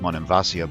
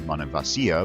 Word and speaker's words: Monemvasia: causeway to the mainland it's called Monemvasia by the locals called Mon and Vasya by the Byzantines and mono Vasya by most modern Greeks but all three pronunciations are considered perfectly fine it has a tiny